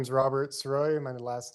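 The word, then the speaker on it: Sirois: the record yes sir my name is Robert saroy my last name is spelled s-i-r-o-i-s what is your current occupation I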